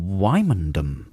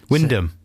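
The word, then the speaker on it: Wymondham: gym at work in wymandum wyndham no it's not spelt like that yeah but sometimes things are spelt in a different way to the pronunciation fourth one down why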